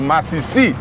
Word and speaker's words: masisi: Es con el acento, masisí. Masisí. No es masisí, sino masisí.